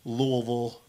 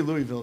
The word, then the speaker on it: Louisville: Hit up Fort Wayne, Akron, Ohio, Louisville, Kentucky, or Louisville, as they like to pronounce it. Yeah, don't say Louisville down there, man. They'll shoot you.